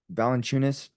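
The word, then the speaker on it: Valančiūnas: you're GNA take on uh valent chunis is how you say his name yeah with without your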